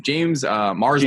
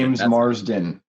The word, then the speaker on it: James Marsden: James Marsden. James Marsden.